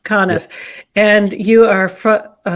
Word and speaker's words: Conniff: Conniff. Conniff.